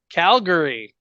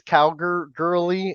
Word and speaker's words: Calgary: no, he says Calgirly, and it's hilarious.